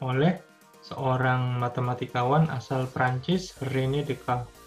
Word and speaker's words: Descartes: seorang matematikawan asal Perancis Reni dekat yang lahir pada tahun 1596 dan wafat pada tahun 1950 klinikdk dibacanya memang seperti itu bukan Rene Descartes karena beliau adalah seorang berkebangsaan Perancis dan memang di Perancis sangat sering dijumpai antara penulisan dan penyebutan kata itu cukup jauh berbeda contoh lainnya adalah perusahaan